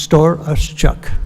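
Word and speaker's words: Storochuk: h u k pronounced store us Chuck okay thank you very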